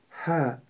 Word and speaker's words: ح: Буква «Ха» произносится мягко. «Ха».